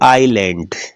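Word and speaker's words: island: silent होता है देखिएगा आई के बाद क्या है अस है तो बोलते क्या है इसको आईलैंड आइलैंड नहीं बोलते लैंड भी नहीं बोलते क्या बोलते हैं आईलैंड तो ये अस क्या हो गया इसके अंदर साइलेंट हो गया देखते हैं अगला रूल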